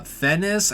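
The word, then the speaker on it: Fiennes: movies we have of we have Ralph uh fenis I think how you say his name you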